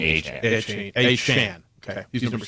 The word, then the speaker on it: Achane: How are we saying this today? He's pronounced his name Achane.